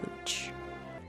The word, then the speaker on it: Hooch: Madame Hooch rhymes with pooch.